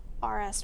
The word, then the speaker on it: Arras: I struggle with it too, but imagine saying RS with an A, RS red interior.